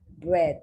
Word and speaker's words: bread: It's now the phonetic letter E. And how is that pronounced? E. Bread. And it's a short E.